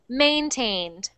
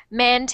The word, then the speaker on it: maintained: that's pronounced maintained augmentin maintained men tend so I'm hearing mant and I want to hear maintained man 10 a try